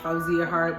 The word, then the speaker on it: Fawziyya Heart: It's really pronounced Fawziyya Hart, but people just say it how they say it.